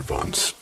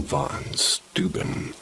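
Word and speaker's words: von Steuben: Another popular story is that the lanterns are carried by the Baron Vance. How do you say that? Baron von Stuben, a Revolutionary War general who once lived in that area.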